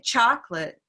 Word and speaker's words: chocolate: hands so if i say chocolate and that's one valid way to say it let's say chocolate chocolate cha so by doing that we have now located the stress which is on the first syllable okay we've done our